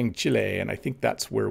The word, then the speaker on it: Chile: that is correct so i'm saying chile most english speakers say chili they just say chili it's not a very good pronunciation but that is where